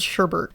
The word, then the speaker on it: sherbet: Cuz I feel like that's something that people bring up a lot, but this one has an R in it. It says sherbet. So, that's how I'm going to pronounce it.